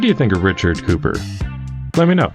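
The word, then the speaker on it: Cowper: Twilight of brius by Richard Cooper spelled cper pronounced Cooper and who doesn't like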